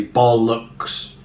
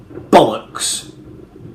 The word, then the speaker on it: bollocks: the word bollocks that you put the stress very firmly on the first of the two syllables so you wouldn't evenly distribute the stresses you wouldn't say ball looks you would not put